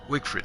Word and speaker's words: Wigfrid: Yep, Wigfrid. She's the performing artist. She excels in battle. She absorbs the power to her health after she defeats someone. And she only eats meat. So the challenge with Wigfrid, she only eats meat.